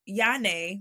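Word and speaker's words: Jahnea: out that in Hebrew, Yane, which is the same as Janae, my middle name is spelled J-A-H-N-E-A. If you take off the J, because there is no J in Hebrew, and you put a Y, it means Yah shows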